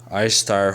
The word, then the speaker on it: Ishtar: that they're under man you know says um i start holding her symbol statue is at the vera museum i start says i star pronunciation istar is the most mesopotamian east semitic